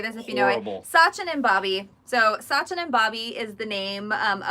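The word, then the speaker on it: Sachin & Babi: called uh okay I don't know how to pronounce this so oh yeah tell me how to say this Sachin and Bobby so Sachin and Bobby is the name of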